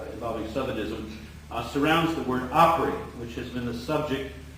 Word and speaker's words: opry: It's a representation of dialect pronunciation of opera.